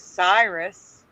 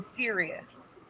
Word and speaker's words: Sirius: pronounced Cirrus. Teresa remembers it as Cyrus, but it's always been Sirius.